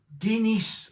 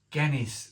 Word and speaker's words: Genys: So of course, if you pronounce it Genys Stout, sounds a bit like Guinness, doesn't it?